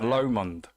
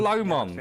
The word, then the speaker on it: Lomond: Lomond. That's what I said. Specifically. That's what I'm saying, Lomond. I'm saying Lomond. I've got to pronounce it like a Scotsman.